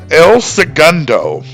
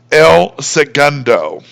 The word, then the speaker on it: El Segundo: So perhaps that's why they settled on the less Spanish pronunciation, El Segundo.